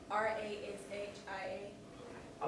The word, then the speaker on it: Rashia: How you spell that first name? R A S H I A.